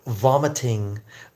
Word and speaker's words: vomiting: Okay, vomiting. Vomiting. Let me go slower. Vomiting. Vomiting. Vomiting. Some languages, it's really hard to pronounce the v sound. But if you almost bite your lip and then vomit.